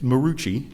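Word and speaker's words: Maroochy: It's Marucci, just like it's spelled.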